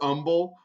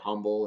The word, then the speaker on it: Humble: just thinking about it the h is silent we're humble uh and that's actually